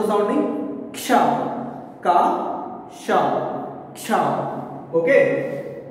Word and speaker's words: क्ष: Now, first we will take Ksha. Once pronounce the sounding Ksha. Ka, Sha, Ksha. Okay. Ka plus Sha is equals to Ksha.